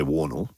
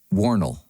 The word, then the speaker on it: Wornall: that yeah I'd say waddle it's Wornall it's it will know like an EE L Wornall yeah yeah and and